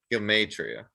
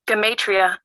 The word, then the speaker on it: Gematria: Gematria.